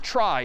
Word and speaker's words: trie: So a try, sort of a weird name and pronunciation, short for retrieval, pronounced try typically.